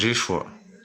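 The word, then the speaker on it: ישוע: En hébreu, ça se prononce Yeshua.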